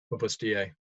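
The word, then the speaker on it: Opus Dei: That's spelled d ei. Opus da.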